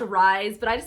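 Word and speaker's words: RIIZE: this isn't going to make any sense but Riz actually it's pronounced rise but I just like saying Riz cuz like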